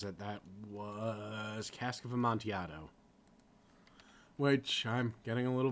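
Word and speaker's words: Amontillado: a little bit okay know it's spelled weird but I'm a little bit s sick of hearing people call it a monardo like it it's weird French Italian Spanish something but which I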